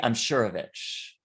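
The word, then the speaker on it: Imsirovic: say it wrong ali i'm sure of itch so he tells us to say it like just just say like i'm sure of and then itch so that's how we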